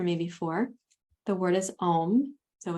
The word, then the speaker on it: om: before the word is om so it's a I should do it this way a u m silence the fourth syllable is silent so it's a u m silence when you're saying the